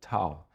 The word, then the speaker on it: Tao: It were short, and Dao, it is pronunciation in different language like Tao, connected to Taoism.